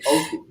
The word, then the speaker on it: Osich: I was trying to say his name earlier. It's Oshie.